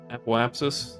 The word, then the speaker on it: apoapsis: uh let's do it aiop apopsis whatever God I say that so wrong so many times app apsis there you go oh we do actually